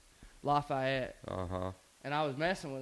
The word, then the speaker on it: Lafayette: I was like Lafayette, and she's like, "That's not how we call it down here."